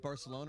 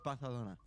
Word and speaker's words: Barcelona: both pronouncing Barcelona wrong. It's Barcelona.